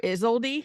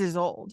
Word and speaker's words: Isolde: They call her Isolde. Mm-hmm. That name is Isolde.